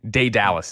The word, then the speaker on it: Daedalus: Daedalus is how you say it.